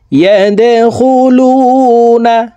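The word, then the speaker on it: يدخلون: وَرَأَيْتَ النَّاسَ يَدْخُلُونَ, দাল কলকলার হরফ নিচের দিকে ধাবিত করে ধাক্কা দিয়ে উচ্চারণ করতে হবে।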